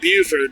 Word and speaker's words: Beaufort: to bford no but so far I like Buford much better than I like bford it's pretty